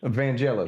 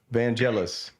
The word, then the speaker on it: Vangelis: So, Vanelis. Evangelis. Yes, that's right. Vanelis.